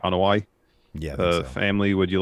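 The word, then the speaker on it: Anoa'i: who else in the on hawaii that's how you pronounce the the the name right on hawaii yeah the family would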